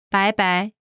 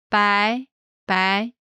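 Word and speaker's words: 拜拜: 晚安 The second part, 拜拜 bye-bye. 拜拜 This expression comes from the English bye-bye. Listen again to the pronunciation. 拜拜拜拜拜拜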